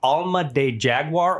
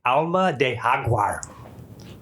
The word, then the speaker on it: Alma del Jaguar: I have, but it the the name is Alma de Jaguar, or if I'm pronouncing it properly, it's Alma de Haguar. Tequila, right?